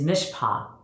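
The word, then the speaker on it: mishpat: order justice and judgment his mishpa is pronounced his mispa is all over the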